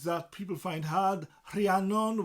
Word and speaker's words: Rhiannon: Rhiannon with the RH, that R sound.